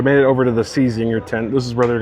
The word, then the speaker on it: Czinger: We made it over to the Czinger tent.